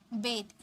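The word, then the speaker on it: bathe: Next है स्नान करना यानी कि बेद। इसे हम बात नहीं बोलेंगे, बेद।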